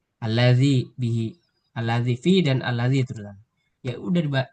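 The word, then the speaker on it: الذي: Nggak mungkin dibaca alladzai atau alladzi. Ya alladzi benar. Alladzai misalnya nggak mungkin. Pokoknya alladzi.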